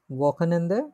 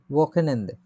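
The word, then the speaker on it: Wochenende: উচ্চারণ করি তো আমরা ওয়াকেনেন্দে, এটা একটু জটিল আছে। ওয়াকেনেন্দে, ওয়াকেনেন্দে, ওয়াকেনেন্দে এই শব্দটা আমরা প্রায় সময় পাবো এরপর থেকে।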